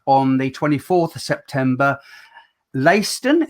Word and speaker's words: Leiston: And then I think we've got on the 24th of September, Leiston. Is that how you pronounce it? Yeah, Leiston. Leiston. Yeah, that's correct, mate.